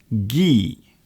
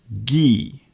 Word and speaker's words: ghee: Now, there is a certain ingredient that is often used in Indian food, and it's called ghee. Ghee. I think it's spelt G-H-E-E.